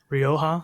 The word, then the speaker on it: Rioja: Called Rio Madre, Rioja, I believe that's how you say it. Yeah. Rioja.